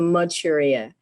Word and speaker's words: Maturia: may apologize that's okay it's pronounced material it's like manchuria but you drop the n for maturia hi this is very